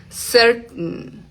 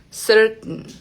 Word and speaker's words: certain: Certen. Miren que casi ni suena esa t. Se detiene acá en la garganta. Certain. Eh, en la palabra eh, por ejemplo, fountain.